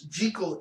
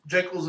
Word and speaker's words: Jekyll: But again, yes, Jekyll, because technically it's Jekyll in Hyde. Jekyll's a mispronunciation. But nobody wants to pronounce it that way because that sounds terrible.